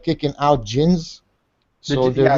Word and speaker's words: jinn: You pronounce it like Jinn, but in Arabic Oh yeah, it has yeah. no D in it.